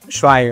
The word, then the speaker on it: Schweiger: Y bueno, Schweiger, entonces el apellido correctamente pronunciado.